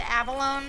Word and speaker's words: abalone: Apparently, I think it's supposed to be pronounced abalone, but, like, it's one of those words where there's a lot of argument over the correct way to pronounce it.